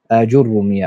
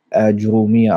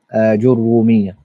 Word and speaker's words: Āǧurrūmīya: Ajurumiyya eigentlich, oft Ajurumiyya ausgesprochen. Aber das Ra hat ein Shadda. Ajurumiyya.